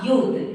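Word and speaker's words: youth: Example देते हैं अ यूथ, यहाँ पे जो वाई है, यहाँ पे जो यूथ का फर्स्ट लेटर वाई है उसका प्रोनाउंसिएशन यू जैसा हो रहा है, इसीलिए इसके पहले आर्टिकल ए का यूज किया जा रहा है।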